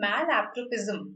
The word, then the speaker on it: malapropism: Malapropism. This is how it is pronounced. Malapropism is to words.